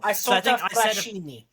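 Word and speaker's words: Isotta Fraschini: But I don't remember what the correct pronunciation of it was now. Assetto Fraschini.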